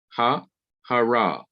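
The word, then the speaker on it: הָהָרָה: So you have two syllables, and it is indicated that the accent is not here on the final syllable, but it is on the syllable next to the last syllable.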